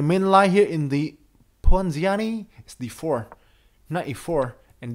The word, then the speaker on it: Ponziani: Ponziani. So Ponziani, one moment. Pronunciation. Ponziani. Ponziani. Ponziani. Ponziani. Yeah, Ponziani.